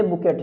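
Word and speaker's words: bouquet: जो आपने सुना होगा, बुके। क्या होता है? बुके। BOUQUE। QUE, और इसको लिखते बुकेट है, लेकिन ये जो टी होता है वो साइलेंट होता है, इसे क्या पढ़ते हैं, बुके।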